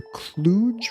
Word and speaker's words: Cluj: I've just been on a road trip from Berlin to Romania via Prague and Budapest, all the way to Cluj, Romania.